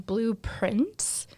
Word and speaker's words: Blue Prince: I have been watching, probably more watching than anything, Blueprints, and it's spelled Prince, but it's also supposed to be like blueprints, like Prints.